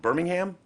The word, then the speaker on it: Birmingham: Was it Birmingham? I don't know. Birmingham. Birmingham. Yeah, that's so they put the emphasis. Birmingham. They put the emphasis on the wrong syllable all the time.